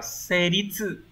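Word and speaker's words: 成立: Từ số 2 đọc là seritsu, seritsu hán tự của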